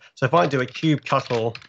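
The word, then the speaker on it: kubectl: a cube cut' or cube catalyst the command line to deal with cuban at ease cube other people pronounce two different ways it's officially pronounced cube shuttle don't let anyone tell you different so cube shuttles get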